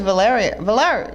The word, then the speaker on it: Valerio: Yeah, it's Valerio. Yeah, I think that's how you pronounce it.